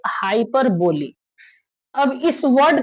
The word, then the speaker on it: hyperbole: तो इसका उच्चारण हम लोग करेंगे हाइपरबोली। कभी कभी कोई हाइपरब या हाइपर बोल बोल देता है। लेकिन हाइपरब इसका परफेक्ट उच्चारण है।